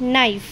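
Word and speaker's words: knife: हो जाएगी silent next नाइफ same N से पहले के है तो के की साउंड क्या हो जाएगी यहां पर भी साइलेंट नेक्स्ट है नॉक सेम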